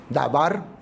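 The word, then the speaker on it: דבר: verbo es eh realmente su eh pronunciación correcta e dabar o palabra, ¿no?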